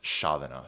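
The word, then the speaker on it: sceaþena: Um actually this word is pronounced shadana. So here's another example where the e only really exists to show you that there's palatalization in the letter behind it.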